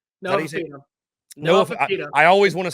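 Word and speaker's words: Noah Fifita: Noah Fafita. I always want to say Noah Fajita.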